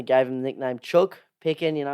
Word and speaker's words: Picken: Picken, rhymes with chicken, Chook.